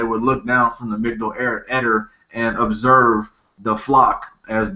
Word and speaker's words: Migdal Eder: revealed from the Migdol Eder, the Migdol, yeah, Migdol Eder, that's how you say it.